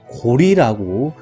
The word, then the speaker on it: 고려: 고조선이라고 하는 조선의 역사, 부여, 고구려라고 하는 고려, 원래는 고구려, 고려는 려자가 나라 이름을 지칭할 땐 리라고 발음해야 된다라고 되어 있기 때문에 고구리, 고리라고 읽어야 됩니다. 백제, 신라, 가야, 그리고 통일신라,